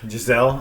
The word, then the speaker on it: Gizelle: gizelle it's like g-i-d-e-l-o-e wouldn't someone say gazelle then yeah that's why i never picked the name gisele because i was like it sounds like gazelle so i couldn't name